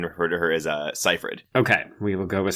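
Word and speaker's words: Seyfried: we've got Amanda Cyree I always mispronounce her last name I think it's Cipher I always say CER you had a you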